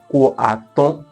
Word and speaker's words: Kô-àtọ: like something similar, but the way they pronounce it is different. So you pronounce that Kô-àtọ, Kô-àtọ. You understand? So you don't use any other word in between. Kô-àtọ, just pronounce it like this, Kô-àtọ.